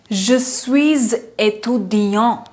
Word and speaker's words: Je suis étudiant: So that's why I have pronounced it as Je suis étudiante or Je suis étudiant, because S is followed by a vowel.